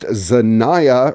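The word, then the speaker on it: Xania: Zania, and excuse me, it says first name pronounced Zaniah, rhyming with Shaia, like Shaniah Twain, is an AIdriven artist, the product of a poet named Telicia Jones.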